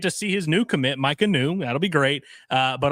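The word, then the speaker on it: Maika Niu: you if when you when I'm saying Micah New, if you're listening on audio, uh, you probably think that's spelled one way. The way this name is spelled M A I K A N IU. Micah new. I think that I'm pronouncing it right.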